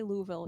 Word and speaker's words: Louisville: and by the way when you say Louisville you have to swallow your tongue okay it's pronounced I